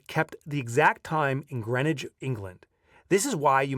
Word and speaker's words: Greenwich: words uh here, and he's giving me the British pronunciation, which is likely the proper pronunciation, but I'm busting his chops. Anyway, here we go. The chronometer kept the exact time in Greenwich, England.